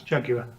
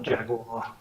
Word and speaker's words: Jaguar: David, yes, that's the proper way to pronounce Jaguar. Jaguar. Jaguar, Jaguar. not Jaguar.